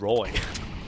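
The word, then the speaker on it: roeJ: yeah no I'm not that roj guy is actually just Roy Roy yeah but that's not bad right like Roy is something I believe anyone can pronounce yep but uh just looks nothing like Roy the spelling so very and the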